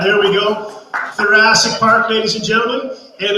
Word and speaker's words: Thoracic: This is Thoracic Park, rhymes with Jurassic.